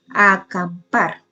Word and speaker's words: acampar: Acampar también lleva el acento en la última sílaba.